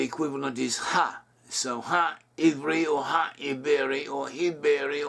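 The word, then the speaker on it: עברי: today in modern Hebrew, Iberi. But it could also be pronounced Iberi or Iberi. In Hebrew, the same letter is used for both the V and the B sounds, and they can interchange.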